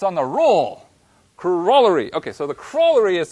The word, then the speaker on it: corollary: Now, if we were teaching this class in the US, we would pronounce this word corollary. And that's because we don't know how to speak English. If we were teaching this class over in England, then we would be pronouncing the word correctly, and we would be saying corollary.